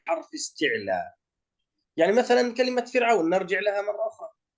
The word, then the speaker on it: فرعون: يعني مثل عندما نقول مثلا كلمة كذاك بعد الكسر حيث سكنت، مثل كلمة فرعون، الراء ساكنة لكن سبقت بكسرة وهي الفاء، أيضا ترقق.